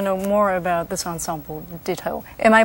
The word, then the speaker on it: Ditto: more about this ensemble Ditto. Am I pronouncing it right, or is it supposed to be pronounced Ditto or Ditto? Well, I say Ditto, but I think in Korean, in Korea, people say Ditto.